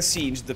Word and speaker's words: Singed: Allora, in teoria la pronuncia ufficiale dovrebbe essere Singed, però a me non frega un cazzo.